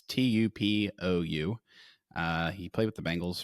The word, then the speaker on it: Tupou: Tupu is how you say it, I think. It's Tupou.